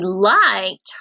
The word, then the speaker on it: liked: So liked, does that make the t, t or d sound at the end?